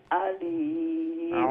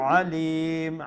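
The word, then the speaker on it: عَلِيمٌ: লাহ ইন্নাল্লাহা বিকুল্লি শাইইন আলিম আলিম আইনটা গলার মধ্যখান থেকে মধ্য অংশ থেকে উচ্চারণ করার চেষ্টা করব ইনশাআল্লাহ ইন্নাল্লাহা বিকুল্লি শাইইন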